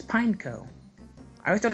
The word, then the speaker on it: Pineco: how is it pineapple you don't pronounce the e it's pineco i always thought it's